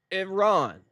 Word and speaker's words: Iran: It's pronounced Iran. Okay. Iron. It's four letters. It is very very easy to say.